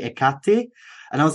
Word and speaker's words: Hecate: correct you and say you're saying heckerty wrong it's actually ikate and I was like